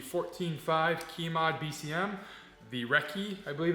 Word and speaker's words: recce: review on the 14-5 key mod BCM the recce I believe it's pronounced not the Reese I pronounce it the Reese but it's the